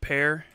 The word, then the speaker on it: Pierre: She's in Pierre, South Dakota, the capital city. I believe. Am I right about that? Am I right? It's Pierre, South Dakota, which I think is pronounced pear.